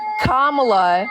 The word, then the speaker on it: Kamala: okay Kamala okay now listen say her name kamla how is she so popular all of a